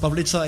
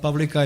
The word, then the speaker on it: Pavlica: pronounced Pavlica in my language. I'm Czech, but Pavlika it's okay as well, since we are in English-speaking country as of now.